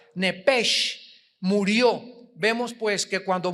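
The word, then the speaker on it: נפש: el nepesh, apúntalo ahí, el alma en el hebreo es nepesh, se pronuncia nepej, la CH en hebreo se pronuncia como J, nepesh, murió.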